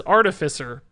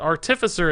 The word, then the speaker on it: Artificer: up on that because artificer deals with artifacts so it's a different emphasis but I don't know